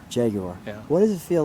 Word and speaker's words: Jaguar: Yeah, Jaguar. Jaguar.